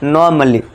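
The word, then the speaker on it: normally: अब देखिए इसमें क्या है? ए के बाद डबल एल वाई है। तो यहां पे दोस्तों क्या है? यहां पे जो है ए साइलेंट हो जाएगा। ठीक है दोस्तों? आपको इसको कैसे पढ़ना है? नॉर्मली। नॉर्मली। ठीक है दोस्तों? ए का साउंड नहीं देना है।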